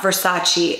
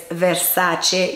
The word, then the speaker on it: Versace: way where they're like it's not Versace it's Versace you've been saying it wrong people made fun of me a few years ago when I was telling people like don't say Versace say Versace or Versace anyway so Donatella Versace has come out and said how to say it so let me show